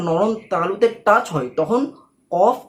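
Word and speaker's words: ق: উঠে গিয়ে উপরের নরম তালুতে টাচ হয় তখন কফ উচ্চারণ হয়।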